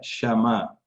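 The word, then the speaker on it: שמע: La palabra escuchar en hebreo se pronuncia shama.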